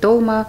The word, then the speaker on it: долма: В Армении говорят толма, в Азербайджане говорят долма. Надеюсь, что мы не будем спорить о том, как говорить правильно, как говорить неправильно. Можно говорить и так, тем